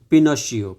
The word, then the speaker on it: Pinocchio: आगे हम पढ़ते हैं पिनो शियो पिनो शियो इसको कैसे प्रोनाउंस करते हैं वह आप एक बार देख लीजिए वैसे पिनो शयो ही कहेंगे इसको ठीक है वंस अपॉन